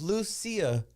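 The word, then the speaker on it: Lucía: And it's Lucia. Notice the little accent on the I.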